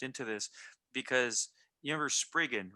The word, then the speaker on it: Spriggan: When I was in high school, I was like, man, I want you to Spraygan. hire me. Yeah, it's called Spriggan. How It, do you dude, spell that?